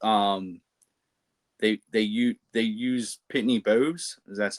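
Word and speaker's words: Pitney Bowes: or with um they they you use Pittney Bows is that's how you say it.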